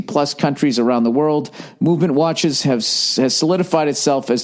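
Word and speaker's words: MVMT: going out this week MV empty watches everybody pronounced movement oh that's not supposed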